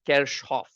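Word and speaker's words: Kirchhoff: apparently he a German physicist the actual German pronunciation is kof I don't none of us lived during his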